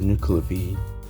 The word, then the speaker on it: Nuckelavee: note i completely forgot to pronounce the nuclear v like binocular v which is the correct pronunciation so don't forget to